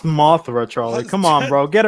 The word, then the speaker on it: Mothra: At no point did anyone declare Martha, and they just stopped fighting. This movie, it's pronounced Mothra, Charlie.